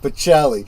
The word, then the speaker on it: Pacelli: anglicize or not but I'm Italian so I'm going to pronounce it pachelli and I'm sitting there going yes yes that's exactly right yes the Metatron pronounced